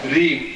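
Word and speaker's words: ह्रीं: इसमें प्रत्येक में म ध्वनि आई है, जानते जैसे क्लीम श्रीम रीम। और जिनको नहीं आता अंग्रेजी में लिख के भी टांग देंगे कि उच्चारण कैसा होना है।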